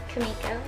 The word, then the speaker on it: Kimiko: say can we go when people are like can we go I always am like cuz I think they're saying my name kamiko my favorite part of